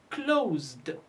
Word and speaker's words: closed: Although it's written s, but we pronounce it z. So when classifying the words, don't look at the letters, but you need to hear the sounds. Because closed is written with s, but it is pronounced z.